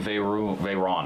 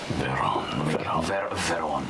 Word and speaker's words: Vhaeraun: All right, worshipping Vhaeraun, I'm sorry. Yeah. Worshipping Vhaeraun. Vhaeraun.